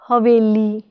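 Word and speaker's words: ਹਵੇਲੀ: Now how will you pronounce this word? This word is made up with the combination of haha, vawa, lama, lalla and byari. Haha is ha, vaave nu lama is ve, lalle nu byari is li. The combination of h, ve and li is haveli. So the word is pronounced as haveli, haveli. Now this word has a vowel with u vowel.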